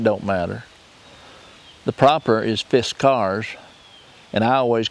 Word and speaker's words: Fiskars: So anyway, we'll get off of here and we'll see what Fiskars, I think's the proper pronunciation. Not Fiskars, it don't matter. The proper is Fiskars, and I always call it Fiskars like everybody